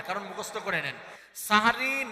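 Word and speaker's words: সাহরি: এই যে কয় সেহরি, আমি বললাম সাহারি, হেরা কয় সেহরি, কি হবে? সাহারি। সিহরুন মানে হচ্ছে জাদু, সেহরি মানে জাদু, আর সাহরুন মানে হচ্ছে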